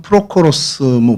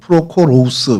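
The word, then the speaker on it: Πρόχορος: 뭐 헬라 말로는 프로코로스, 프로코로우스 이렇게 발음을 하는데 여러분 사도행전에 7사람, 우리 흔히 7집사라고 하는 스데반을 포함한 그 사람들의 명단이 나오잖아요.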